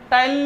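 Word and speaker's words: ptyalin: या फिर टाइलिन, टाइलिन लिखो तो पी साइलेंट कर देना, पर पी को भूल मत जाना, है ना।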